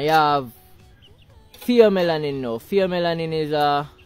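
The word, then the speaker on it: pheomelanin: have Fe melanin now fom melanin is a fom melanin F it's spelled with ph F fom melanin or F melanin it's a reddish a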